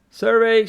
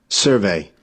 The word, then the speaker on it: survey: something is called survey survey stress on the first syllable survey survey so it's a